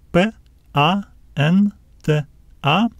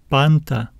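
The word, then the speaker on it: πάντα: letters give us sounds p a n t a this is our accent we will need to stress this syllable let's read it panta panta panta the next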